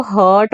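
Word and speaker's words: hurt: और इस वर्ड को हर्ट बोलना है। और दूसरा वर्ड ये जो होता है इसको हम हार्ट बोलते हैं। ठीक है, हार्ट और ये हर्ट है, प्रोनाउंसिएशन में फर्क है।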